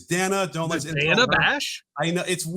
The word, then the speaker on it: Dana: Dana. It is Dana.